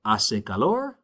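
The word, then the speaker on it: hace calor: So, asalor aso. Again, that h is silent.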